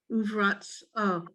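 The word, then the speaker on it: ורצון: Uv is the first syllable. That U again means and. What's the second syllable? Just Sharon. Ra, And the third syllable. z, Well, sa. ration. Sa. No, there's no E.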